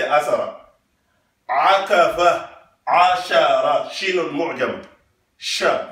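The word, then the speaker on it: عشرة: can say asara akafa ashara shinun mu'jam sha make sure you pronounce that you don't say asara we have to learn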